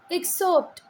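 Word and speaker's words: exhort: जो वर्ड है बेटा इसको बोलते हैं एक्सोर्ट एक्सट ठीक है आर को ऐसे प्रोनाउंस नहीं करना है आपको साइलेंट है एक्ट ये एक्सट कहां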